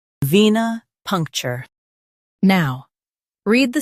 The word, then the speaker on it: venipuncture: venipuncture Now, read the syllables of British pronunciation shown on the screen naturally. ven ih punk chuh venipuncture ven ih punk chuh venipuncture Stress punk and keep cher light.